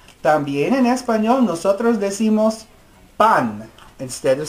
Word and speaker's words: pan: También en español nosotros decimos pan. Instead of saying bread, in Spanish we say pan. Repitan, pan. It's not pan. It looks like pan, but it's pronounced pan.